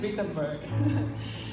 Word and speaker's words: Wittenberg: Y en esta universidad que queda en Alemania, que nosotros le decimos Wittenberg, y ellos pronuncian la W como B, ellos le dicen Wittenberg, pero nosotros le decimos Wittenberg.